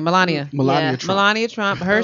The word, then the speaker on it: Melania: What was, how do you pronounce her name? Melania.